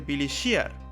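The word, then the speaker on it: Billy Shears: con el seudónimo de Billy Shear, que se pronuncia casi igual que Billy's Here.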